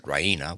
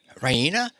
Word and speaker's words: Raina: of good news rahina she pronounces it Raina with the stress on the E Reina she goes to the